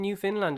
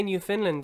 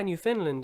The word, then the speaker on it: Newfoundland: So instead of Newfoundland, it's Newfoundland. Like you pronounce the You land, really but got the to fin is right. go broad in that AVL, yeah. Yeah. Newfoundland. Because obviously, Yes. Yeah, that's good. That's correct. Newfoundland.